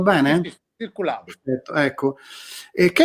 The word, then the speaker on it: Circuladô: Tu hai citato un disco di Caetano Veloso che si chiama Circulado, l'ho pronunciato bene? Sì, Circulado.